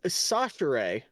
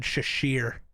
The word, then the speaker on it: Chachere: It's Chachere. That's really close to what I Chachere. said. I said Shashir.